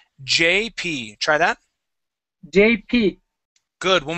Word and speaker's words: JP: name of JP okay you are saying GP okay that is J JP try that JP good